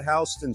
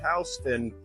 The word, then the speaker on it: Houston: outside we're now at hon Street which marks the southern border of the Greenwich Village neighborhood and yes it's pronounced hon even though it's spelled like Houston so have fun explaining